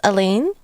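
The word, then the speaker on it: Alain: I think Al's previously pronouncing his name as Elaine. But I know Son in Japanese always says Aden.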